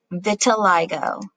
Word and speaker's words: vitiligo: Is this, and I pulled it up so we can pronounce it correctly. Vitiligo.